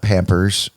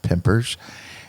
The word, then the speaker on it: Pampers: As you all know, I am Pampers, and I am that's not Pampers. It's spelled the same way, but it's pronounced Pimpers.